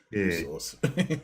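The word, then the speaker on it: Worcester: have been enough that's how we call it Source what's so difficult about saying Worster when it's spelled wor eser sh when it's spelled sh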